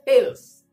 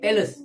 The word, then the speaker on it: Thales: Kali ini kita akan bercerita tentang seorang ahli matematik dari tamadun Greek yang nama dia Thales ataupun boleh disebut sebagai Thales pun boleh.